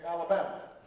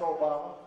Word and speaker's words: Obama: Except people didn't always say it right. And they'd call me Alabama. Or they'd call me Yo Mama. And I'd have to explain, no, it's Obama.